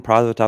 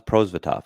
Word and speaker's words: Prosvetov: about pronunciation it's been we've been saying product now it's prozvitov so anyway we're just